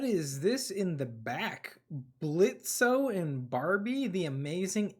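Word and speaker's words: Blitzø: respect man with that sort of passion I'm Blitz the O is silent what o oh thank you now what's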